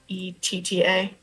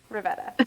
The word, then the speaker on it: Rivetta: Rivetta. Okay. Rivetta. There we go. Sorry. Think of it like river, because that's the way I do it.